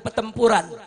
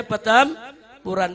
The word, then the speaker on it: Petamburan: Itu namanya bacanya Petampuran, bukan Petempuran. Apa namanya?